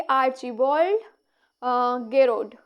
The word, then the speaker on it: आर्चिबाल्ड गेरोड: आर्चिबाल्ड गेरोड।